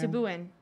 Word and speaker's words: Sebouhian: Subuin.